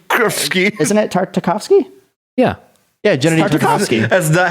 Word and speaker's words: Tartakovsky: did he not know it's like isn't it Tartakovsky yeah yeah generally as the house at like